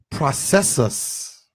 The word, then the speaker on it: processus: In Latin, the word process is pronounced processus, which means progression.